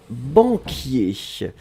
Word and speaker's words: banquier: pré position d'une profession par non et c'était banquiers alors banquiers donc que l'on doit mettre finalement